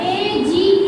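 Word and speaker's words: age: अब यहाँ पे देखिएगा, यहाँ पे यदि जी के बाद में ए होता तो उसे हम ग प्रोनाउंस करते। क्या प्रोनाउंस करते? ग प्रोनाउंस करते। लेकिन यहाँ पर जी के बाद में ई लिखा है। क्या लिखा है? ई लिखा है। तो यहाँ पर क्या पढ़ेंगे इसको? एज।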